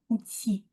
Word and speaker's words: outil: le mot outil en outil. Le L final ne se prononce pas.